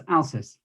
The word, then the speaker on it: Alsis: So the next person I would like to introduce to you is Richard Britton from, now is it Alsis? Is that how you pronounce it? That's right, Denise, Alsis.